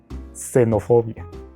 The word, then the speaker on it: xenofobia: que también tiene ese con palabras como xilófono xenofobia que aunque se escriben con x se pronuncian como si fuera una s porque así funciona el